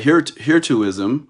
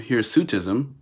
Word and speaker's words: hirsutism: right and generally they people will call that heretoism i'm going to type that here to ism or or here's sutism here's sutism i was saying it wrong all right i'm gonna